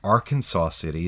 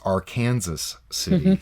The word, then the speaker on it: Arkansas City: of Kansas there is a city hmm that is spelled a are ka and SAS but it's not arkansas city is our kansas city kansas mmm very strange